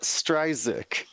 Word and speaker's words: Stridsick: I believe he pronounces it Stridsick.